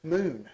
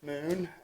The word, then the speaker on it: MXXN: do you pronounce it Moon Mo so remember the days of uh prohibition when they exed out O's yeah so it's Moon uh you pronounce it